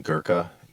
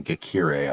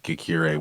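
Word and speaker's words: Ghekiere: um I think uh Justine girka no Justine geir I think is how how her name is pronounced from AG insurance is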